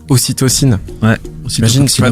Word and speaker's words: ocytocine: Non mais parce que les orgasmes, parce que j'ai appris des super mots, je sais même pas si je les prononce encore, mais ocytocide. Ocytocine. Ocytocine.